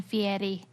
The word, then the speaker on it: Fieri: Because they anglicized it when they came over here to Fieri, and then he was like, no, we're going Fieri.